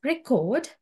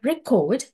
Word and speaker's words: record: speech uh the word record as a noun stress pass with the first syllable and the word record uh capture to a sound or information as a verb stress pass within the second syllable and another example uh